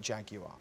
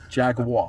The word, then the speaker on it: Jaguar: So tell me, what was your favourite Jaguar?